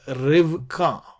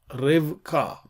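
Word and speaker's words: רִבְקָה: a as well uh but here we have rivka rivka okay these are the feminine nouns these are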